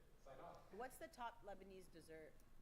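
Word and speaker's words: Sidon: Saidon. You just added an N to it. No, that's how it's pronounced in English. Saidon.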